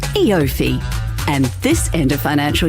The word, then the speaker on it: EOFY: a word you can read but can't quite pronounce ifi e offi e5 it's eofy and this end of financial year it's easier